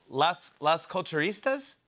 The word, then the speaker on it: Las Culturistas: "Las Culturistas"?